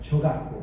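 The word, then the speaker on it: 조각보: There's a traditional Korean handicraft and art form similar to a quilt called jogakbo. That's spelled Jogakbo, jogakbo.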